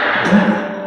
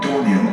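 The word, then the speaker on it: Domhnall: Donna Gleeson, not Dorney Gleeson.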